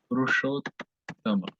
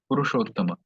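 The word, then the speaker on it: पुरुषोत्तम: So both of them are replaced by O Rama. So it becomes Purushottama. Okay? Purushottama.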